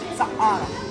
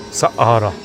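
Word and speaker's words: Saqqara: Sahara. Sakara.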